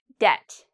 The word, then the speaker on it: debt: This word, debt. Do you hear the B in the pronunciation? Debt. You shouldn't hear the B.